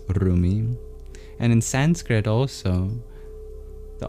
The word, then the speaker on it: Rumi: In Arabic, you don't pronounce the R the same way in English, so it's not Rumi, it is Rumi.